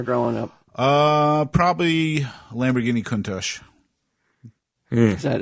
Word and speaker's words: Countach: Uh, probably Lamborghini Countach. Is that how that's how it's pronounced?